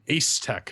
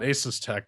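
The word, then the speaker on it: Asetek: Apparently, Cooler Master is infringing on something of a patent from Ace Tech, not Asus Tech, because it just gets really confusing when you say it like that.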